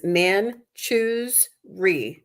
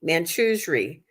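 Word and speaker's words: Manjushri: wow so uh it the pronunciation in the book is man choose re man Cho re it's still not easy to say but that's the pronunciation so manui is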